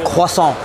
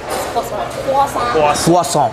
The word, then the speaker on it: croissant: That's how you say it. No, it's croissant. Croissant.